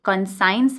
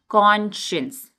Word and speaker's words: conscience: बहुत सारे लोग इस वर्ड को गलत प्रोनाउंस करते हैं, ये कंसाइंस नहीं होता है, क्या होता है? कॉन्शियंस। ठीक है, मेरे साथ एक बार बोलो, कॉन्शियंस।